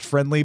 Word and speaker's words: Frndly: I think it's supposed to be pronounced friendly, but it's spelled FRNDLY.